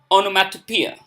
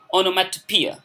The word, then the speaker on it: onomatopoeia: we pronounce it appear onomatopoeia okay so it's long e onomatopoeia okay so it is